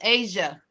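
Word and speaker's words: A'ja: It's Asia. Asia. That's how she said it. She on her interview, she said that's how you say her name. Just remember the continent of Asia, and there you go.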